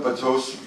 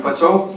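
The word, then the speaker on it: Batou: Nu siger du Batu, men jeg kalder ham jo Bato. Ja, fordi det siger du, han skal udtales om, og der ved du mere end mig. Ja, han hedder Bato af den simpel årsag, at det har fået at vide de japanske producenter, det hedder han.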